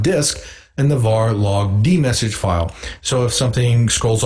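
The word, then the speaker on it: dmesg: way is to use the d message command which dumps the contents of the kernel ring buffer to the screen by the way that command is spelled d-m-e-s-g now since the messages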